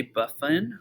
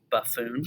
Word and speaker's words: Buffon: George de Buffon, or Buffoon, depending on how you want to pronounce that.